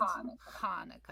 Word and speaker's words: Hanukkah: because it's not it's not actually Hanukkah. It's Hanukkah. It's that same guttural H sound.